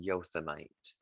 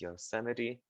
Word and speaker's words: Yosemite: and again it says it looks like it would be called yosemite but it's not it's yosemite this is in the